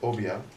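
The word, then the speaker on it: Obeah: Pronounced Obia, the term for black magic was recorded in the Caribbean sometime between 1710 and 1712 on the island of Barbados.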